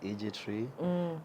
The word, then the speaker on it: iGiTREE: Yes, it rhymes like IGT and iGiTREE, but actually the IGI means igisekuruza tree. But I cannot say, that's why I say iGiTREE.